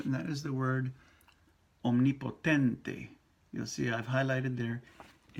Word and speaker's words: omnipotente: Now, omnipotente. O. Om. And then ni. In English, you're going to say omne. E. That E sound ain't going to happen in Espanol.